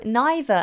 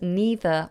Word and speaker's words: neither: People pronounce it differently. Yes, so neither and either in the UK also can sometimes be pronounced as neither or either. And that's because in America they say neither and either, but in England, in Britain, they say either and neither.